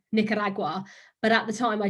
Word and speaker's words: Nicaragua: I didn't know that it was pronounced Nicaragua, and I was pronouncing it Nicaragua. And you know, people that I'd meet would just be laughing and like, say it again, and because I was like, but that's how you say it. Apparently you roll the R.